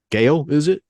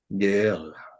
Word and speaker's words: Gael: Gail, is it? Gael. Yeah, Gail. Am I not saying it right? Gael. The accent is on the last part.